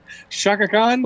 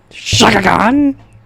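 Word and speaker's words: Chaka Khan: Why'd you say it like that? Shaka Khan. Shaka Khan? They had Fergie and Shaka Khan. It's Shaka Khan. He says it like a normal name, and then goes Shaka Khan.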